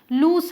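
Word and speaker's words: loose: Double O वाले लूज को लूज नहीं लूस बोलते हैं एक्चुअली, ध्यान रखिएगा। ये लूस है और इसका मतलब है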